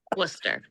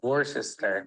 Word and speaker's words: Worcester: Worcester. This one I know because it's like the sauce, right? Worcestershire sauce? Worcester.